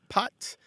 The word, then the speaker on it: pâte: So you translated, they sound almost the same, pot and pat.